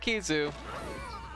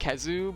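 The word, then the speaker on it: Khezu: I hear it pronounced Kezu, but I also hear it pronounced Kizu, of equal amounts. We've always said Kizu here, but I suspect that both are fine.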